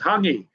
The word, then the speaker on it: hangi: Russell, it wasn't haggis, it was hangi. Hangi, they pronounce it. It's Hangi. They pronounce it hangi.